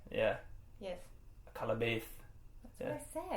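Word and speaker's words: Akallabêth: And Akalabeth. Yeah. Yes. Akalabeth. That's what I said. No, you didn't say it right. Akalabeth. Akalabeth. Akalabeth. Akalabeth. That's what I said. No, it's not.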